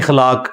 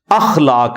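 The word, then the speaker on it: अख़लाक़: होते हैं मसलन यह लोग बोल देते हैं खलाक खलाक लफ्ज नहीं है अखलाक लफ्ज है तो अगर हम यह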